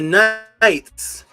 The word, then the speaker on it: knight: it is right there the K on the night is silent while simultaneously hearing the word night those who moved in